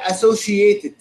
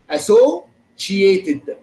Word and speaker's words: associated: تمام الله ينور يا شباب طيب الكلمة اللي بعد كده associated بصوا الكلمة دي نطقها صعب جدا بفيها سين وشين associated بصوا تاني هقولها تاني عشان تعرفوا النطق بتاعها associated حد عارف يعني ايه associated؟